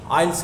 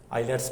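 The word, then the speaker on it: IELTS: तो उसके लिए आइल्स के लिए अगर आप जाना चाहते हो, उसमें 4 पेपर होते हैं, आइलेट्स बोल देते हैं उसको, वैसे प्रोनाउंसिएशन आइल्स है, टी साइलेंट रहता है, ठीक है।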